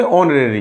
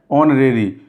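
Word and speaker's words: honorary: H silent है, ये पहली बार आ चुका है। जिसमें पहला वर्ड, जिसमें पहला लेटर साइलेंट हो तो वहाँ पर दूसरे लेटर के हिसाब से आर्टिकल का यूज किया जाता है। इसको पढ़ेंगे ऑनरेरी। क्या पढ़ेंगे? ऑनरेरी। तो वैसे हिंदी में भी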